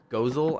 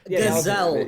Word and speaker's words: Gazelle: And so we fight him, and this was Gozel, I think, was the one I fought first. Gazelle. It's pronounced Gazelle.